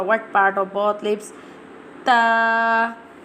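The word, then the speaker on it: ت: Ta ta ta pronounced from the tip of the tongue touching the roots of the top two front teeth.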